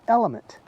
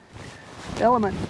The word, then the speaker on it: LMNT: The LMNT, which one of my subscribers, you made the comment that said that is pronounced element.